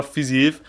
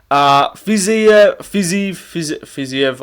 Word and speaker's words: Fiziev: But with this Fiziev fight, there's a little bit more, like, stakes in my opinion.